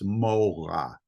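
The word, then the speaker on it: מורא: The noun version of it has a mem or an im sound at the beginning, so it's morah.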